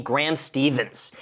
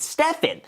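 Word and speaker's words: Graham Stephan: they don't call me Graham Stevens it's like why why do you mispronounced my last name wrong it Stefan so I I like there's no s at the end of that Graham Stevens gr Sten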